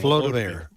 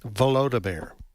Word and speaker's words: Volodymyr: Zelensky, how do you pronounce his first name? Volodymyr. Huh? Volodymyr.